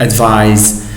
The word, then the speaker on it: advise: z sound pronunciation with the verb advise must be pronounced with z as it is shown in the examples here the first example i